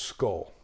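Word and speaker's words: skál: So I've said this word differently, and some people say, it's actually pronounced skull. So I look at the spelling and I anglicize it. So if I say skjol or skull or skjol, you get the deal, right?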